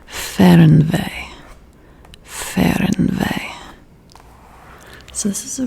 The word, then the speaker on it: Fernweh: F E H R N dash V E Y H. So this is German. I believe that this is pronounced Fernweh.